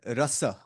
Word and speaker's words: rasa: you This is ra the complete syllable r, ra? and then the complete syllable sa without any matras, any distortions. Okay, rasa, Rasa, rasa, rasa.